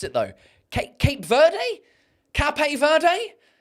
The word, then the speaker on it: Cape Verde: It's almost uh Okay, so it's pronounced Cape Verde.